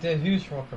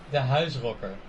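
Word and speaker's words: De Huisrocker: You say DeHuis Rocker, but I know he's Dutch and I know how to say it. How do you say it then? The House Rocker. The House Rocker. I think that sounds better as well. The House Rocker. Yeah, is that right? That's basically it.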